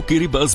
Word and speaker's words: Kiribati: दोस्तों इस देश को लिखा तो गिरी बात ही जाता है लेकिन यहां के लोग देश को गिरी बस बोलते हैं क्योंकि गिरी बातें की लोकल लैंग्वेज में टी को एस के तोर पर प्रोनाउंस किया जाता है इसीलिए हम भी अब